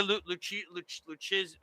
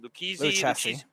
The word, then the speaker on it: Lucchesi: I mean, they got the guy Lucchesi. I can't. How do you say his name? Lucchesi.